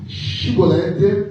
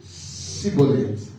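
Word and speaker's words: Schibboleth: Il lui disait alors et bien dit chibolette et il disait cibolette car il ne pouvait pas bien prononcer sur quoi les hommes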